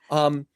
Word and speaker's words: Bazelon: Am I pronouncing Simon's Yeah, last name Baseline. correctly? Yeah. Yeah. Bazelon.